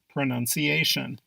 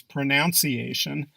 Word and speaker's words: pronunciation: pronunciation proper pronunciation is pronunciation you probably hear this word being pronounced as pronunciation since that is how you pronounce the words pronounce and pronouncing but no there is no noun sound it's none salmon proper